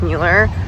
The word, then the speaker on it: Mueller: favorite neighborhoods in austin it's called mueller or miller depending on who you're with they pronounce it differently there's usually a farmers